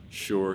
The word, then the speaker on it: Shore: me is called sure sure spelled s-s-h-o-r-e um but pronounced like sure um i named it